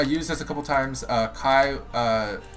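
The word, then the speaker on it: Caeh: Yeah, but by the way, when I say Kai, it's spelled C-A-E-H.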